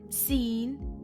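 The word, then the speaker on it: سين: The next letters of the alphabet are Sin and Sheen. Sin is equivalent to the letter S.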